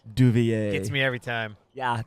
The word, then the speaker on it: Devilliers: Devilliers. Gets me every time. Yeah, that got me because I was saying Duvier, but then I read it and it says it's like Devil's Ears.